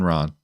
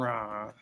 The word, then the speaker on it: Ra: Aaron Ra. Thank you. Aaron Ron. Yeah. Aaron. It's almost like half. You almost say it like a pirate. And rah.